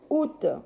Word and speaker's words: août: n'êtes pas à école alors août s'écrit à août àoût mais se lit août en français 8e mois de l'année août alors bien sûr ces